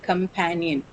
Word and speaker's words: companion: So second syllable pan is the one which carries the stress. Companion.